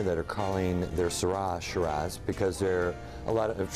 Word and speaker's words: Shiraz: Some people say Sarra Shiraz. What is it? How do you say it the right way? Well, it's Shiraz. Shiraz.